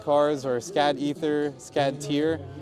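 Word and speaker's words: Tyr: But yeah, if you just uh Google SCAD cars or scad ether scad tier tier is spelled t y r, you can find more.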